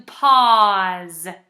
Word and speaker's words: pause: Let's change Paul into pause. Pause. This one's tricky because it sounds like a Z, but it's actually an S and a silent E.